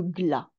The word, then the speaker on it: glas: Alors, la première expression que je vous propose est sonner le glas. On ne prononce pas le S, on sonne le glas.